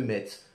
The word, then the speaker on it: Metz: Je dis Metz, je prononce le T, je vous emmerde.